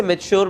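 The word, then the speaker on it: mature: अब ये तो मैंने नेचर पढ़ा, तो मैं इसे क्या पढ़ूंगा, क्या मैं इसे मेचर पढ़ूंगा? अब पढ़ने को मैंने गलत नहीं पढ़ा, बट इसे मेच्योर पढ़ते हैं. सो इसकी right pronunciation is मेच्योर, but just because मुझे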